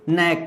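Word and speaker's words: knack: करें तो elegance aptitude नेक नेक मतलब चतुराई नेक मतलब क्या है चतुराई चतुराई नायक मतलब चतुराई के साइलेंट रहता है ध्यान रखिएगा इसमें अब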